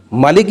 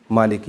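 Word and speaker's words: مالك: الف لمبا کر کے بھی پڑھ سکتے ہیں مالک یوم الدین، مالک یوم الدین. جس طرح یہ ہے نا الملک المالک، اس طرح مالک یوم الدین، مالک یوم الدین. یہ دونوں طریقوں سے دونوں تلفظ درست ہیں.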